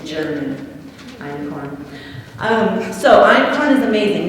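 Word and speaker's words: einkorn: so iron corn is awesome it's expensive you spell it e-i-n-k yeah e-i-n-k-o-r-n it's german iron corn um so icon is amazing now when you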